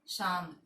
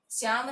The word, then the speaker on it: शाम: शाम। देखो इसका उच्चारण होता है शाम, श्याम नहीं। श्याम तो ये होता है, ये तो किसी का नाम होता है, ये नहीं होगा शाम।